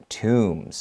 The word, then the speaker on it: tomb: of ancient egypt pharaoh's tombs it's a tomb there's a b at the end but we don't we don't read it so a lot of